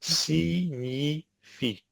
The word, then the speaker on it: signifie: You might want to pronounce a G in this word, but it's signifie, no G sound.